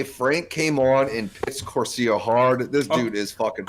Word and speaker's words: Corsair: show on Friday, Frank came on and pissed Corsair hard. This dude is fucking hilarious. How do you say it wrong when I literally just said it? Corsair.